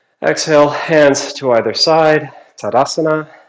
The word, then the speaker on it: Tadasana: Exhale, hands to either side, Tadasana, or Tadasana, the only way to pronounce that.